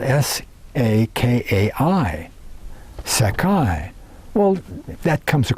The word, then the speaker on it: Sakai: Ptolemy mentions a Scythian people sprung from the Sakai. Now that's spelled S-A-K-A-I, Sakai.